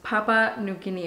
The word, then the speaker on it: Papua New Guinea: One of my friends, Jackie, told me that it's pronounced Papua New Guinea.